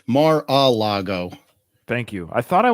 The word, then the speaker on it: Mar-a-Lago: It's Mar-a-Lago.